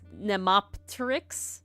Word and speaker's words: Nemopteryx: Also, because as you could tell by how I pronounce it, it's Nemopteryx. So the P is there because it's like Orthoptera, like it's not like pterodactyl.